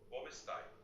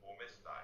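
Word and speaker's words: Come stai: অবশ্যই ইটালিয়ানে তুমি কেমন আছো বলার সবচেয়ে সাধারণ উপায় হলো কোমেস্তাই। উচ্চারণ কোমেস্তাই।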